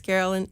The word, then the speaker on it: Caroline: It's spelled Caroline, but it's Carolyn H.